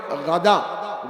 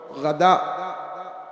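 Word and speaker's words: غداء: খায় না এজন্য ফুতুর দুপুরের খানাকে বলে গাদা গাইন দাল আলিফ হামজা আবার কেউ গাধা গয়েন গাধার সাথে শব্দ উচ্চারণে শুনতে একরকম শোনা যায় কিন্তু আসলে শব্দটা হল গাদা অথবা অন্য মাজদার থেকে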